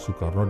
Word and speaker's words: Soekarno: barat Yudha yaitu Karna nama Karna menjadi Karno karena dalam bahasa Jawa huruf a berubah menjadi o dibaca o sedangkan awalan su memiliki arti baik di kelak kemudian hari ketika menjadi presiden ejaan nama Soekarno diganti olehnya sendiri menjadi Soekarno o e = u karena menurutnya nama tersebut menggunakan ejaan penjajah Belanda masih tentang nama di